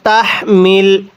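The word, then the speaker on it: تحمل: সাথে পড়বেন রব্বানা ওয়ালা তাহমিল এই হাটি উচ্চারণের সময় মুখের মধ্যে একটু বাতাস বের করতে হবে যদি তাহমিল পড়ি তাহলে পড়াটা সহি শুদ্ধ হবে না এই হাটা উচ্চারণের সময়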